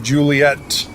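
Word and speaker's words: Juliett: with one t but the phonetic alphabet actually has two T's on the end so everyone knows to pronounce it Juliet because I guess some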